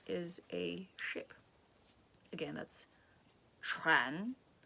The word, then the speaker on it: 船: Again, that's 船. It's a very difficult word to pronounce properly.